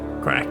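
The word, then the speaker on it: Crach: that's crack but it's his it's his name pronounced crack our morning ends today by the grace of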